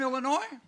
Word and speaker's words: Illinois: Are y'all from Illinois? No, just like the word, how it sounds, Illinois. The S is silent, as he's known.